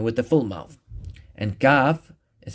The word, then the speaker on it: kaf: similar to qaf but away from the uvula. So qaf is pronounced from the uvula and the soft palate, right? But kaf is pronounced from the soft palate. So make sure that, not to touch the uvula. This part right here, that's the uvula. So ka, ku, ki.